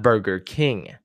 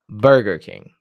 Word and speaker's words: Burger King: go to Burger King not Burger King Burger King the stress is on the first word I'm going to go